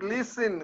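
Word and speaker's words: listen: your body this is লিসেন কথাটা হচ্ছে লিসেন টি এর উচ্চারণটা হবে না লিসেন টু ইউর বডি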